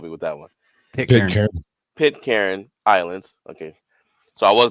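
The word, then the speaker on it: Pitcairn: Pit Karen Islands. Okay, so I was going to pronounce it right.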